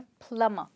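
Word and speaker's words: plumber: पर इस वर्ड में हम कहते हैं प्लम्बर। इसका मतलब है यहाँ पे B साइलेंट है और हम सिर्फ यूज करते हैं प्लम्बर।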